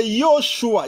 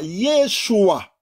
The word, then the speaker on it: Yeshua: Au lieu de Yoshua, Yeshua, Yeshua.